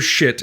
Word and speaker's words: Schiit: It's pronounced shit.